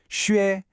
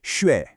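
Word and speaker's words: 学: When xue comes after J, Q, or X, the two little dots are left out. So even though it's written as a U, you have to pronounce it xue. The tone is the second, rising tone.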